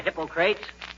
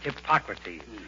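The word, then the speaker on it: Hippocrates: McGee hello McGee hi hypocrates if you are referring to the father of medicine McGee it's pronounced hypocrates and if I wasn't now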